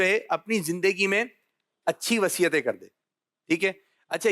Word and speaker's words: وصیت: چلیں جی, اب ہم نے وصیت کرنی ہے یا وصیت؟ تو سب مل کر بولیں. صحیح جو ادائیگی ہے, صحیح تلفظ ہے, یہ ہے وصیت.